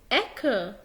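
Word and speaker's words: Ecke: إذا جاء حرف السي قبل الحروف الآتية الأ، الأو، الأو، الكا، الإر، الإل، هننطقه ازاي؟ هتنطقه حرف كا. تعال ناخد مثل عليه. زي اهو هنا عندي مثلا حرف السي جه قبل الكا فبقول اك، اك.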